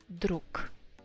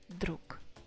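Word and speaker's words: друг: drook druzia druk druzia at the very end of the word that's why it should be pronounced as k drook druk druk it's only male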